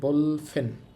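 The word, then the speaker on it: 볼펜: এখন দেখেন এখানে খেয়াল করেন আমি একটু আগে বলছি যদি বিয়োগ শুরুতে থাকে তাহলে আমরা সেটাকে ভ পড়ব। কিন্তু এখানে বিয়োগ শুরুতে আছে বাট আমি চেঞ্জ করি নাই।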